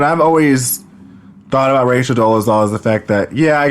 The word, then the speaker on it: Dolezal: So Rachel was going to testify, and because she was, Rachel Dolezal, because that's how you pronounce her name, her family, her mother and father and her brother needed to discredit her testimony.